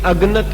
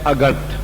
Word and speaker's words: अगणत: तो इस वास्ते सतगुरु कह रहे हैं, ते पहला शब्द जो उससे पदे है, ये अगनत नहीं, इसका उच्चारण है अगणत।